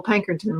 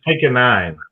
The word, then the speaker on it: Pankonien: Yeah, I've got Pankerton with me right now. Okay, I mispronounced your name again. Yeah, it's pick a nine, but it's okay.